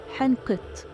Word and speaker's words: حنقط: وبتتنطق تي تي تي الشعير وبتتنطق حنقط الثيران وبتتنطق كاو الطيور